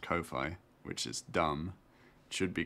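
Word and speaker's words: Ko-fi: how it's pronounced I have learned it is pronounced Kofi which is dumb should be coffee um my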